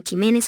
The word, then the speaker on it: Ximénez: La pronunciación de esta X, en esas y otras palabras, es fricativa velar sorda, es decir, suena como J, constituye, por tanto, un error ortológico articularla como K es 23.23.